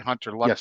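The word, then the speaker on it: Hunter Luepke: Am I pronouncing that right? Hunter Lupke, Yes.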